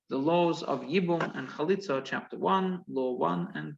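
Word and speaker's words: chalitzah: so then there is a performance called a khalitza a khalitza and i'll spell it for you in a second c h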